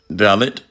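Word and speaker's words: Dalit: this up real quick a dallot in India pronounce dallot a member of the lowest class in the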